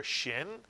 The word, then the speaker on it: Shin: So now you've learned your first Hebrew letter Shin, which makes the sh sound, sh, and your first Hebrew vowels, patach and kamatz, which make the sound of ah, as in the word father.